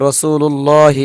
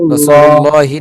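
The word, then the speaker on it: رسول الله: কিছুটা পড়া যেত, যেমন রসুল্লাহি এরপরে তার শব্দ নাই, তার মানে আমরা এখানে ওয়াকফ করতেছি, তাহলে এখানে মধ্যে আরজি করতে পারি, রসুল্লাহি না পড়ে রসুল্লাহ পড়তে পারি।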